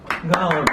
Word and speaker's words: Golub: David Golub. Did I say that right? Am I saying it right? Golub, yeah.